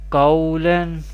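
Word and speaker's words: قَوْلًا: Here there is Zabar before Vaw Sakin, this is Vowleen, and Vowleen we pronounce without stretching or without sudden pausing. And here Lam Do Zabarlan is Tanween. We recite like this: Qawlan, do not stretch or do not suddenly pause.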